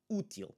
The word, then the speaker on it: útil: We want to make sure that the first syllable is the one that we are emphasizing. Útil, not útil, útil.